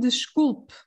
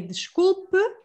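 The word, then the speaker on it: desculpe: this is the one i was just saying the scoop so means i'm sorry if you want to just say sorry to someone you can say the scoop and again this with an e at the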